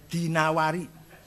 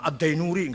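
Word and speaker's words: al-Dinawari: I quahinawari jangan B Bacanya dinawari jangan addainuri enggak ada kota dainur ad dinawar dinawari Heeh alasm'i enggak ada Asmi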